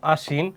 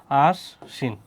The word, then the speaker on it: আশ্বিন: ওই রকম আশ্বিন হয়েছে কি আশ্বিন, দুইটা স, যেহেতু সর সাথে ব।